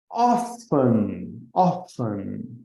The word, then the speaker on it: often: Often, o T ali. A maior parte das pessoas que falam inglês não pronunciam aquele T, é uma letra muda, então fica often.